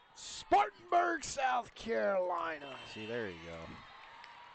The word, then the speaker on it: Spartanburg: you gotta see you gotta say it right Spartanburg Spartanburg South Carolina see there you go and and